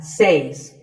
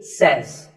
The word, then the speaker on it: says: This word is commonly mispronounced by people learning English as says. But remember, I say, you say, but he or she says. Number 3 is etc.